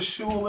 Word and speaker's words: shul: Does anybody know what a shul is? No, everybody know how the you shul? Spell that?